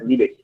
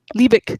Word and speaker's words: Liebich: It's Liebich. Liebich. Yeah. And my family is German, but from many generations ago. So we've all lost our German pronunciations, and sort of everything's been Americanized over here.